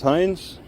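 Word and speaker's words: Heinze: Yeah, it's Hines. How do you spell it?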